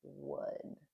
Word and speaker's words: would: Same as would, which rhymes with good, not good.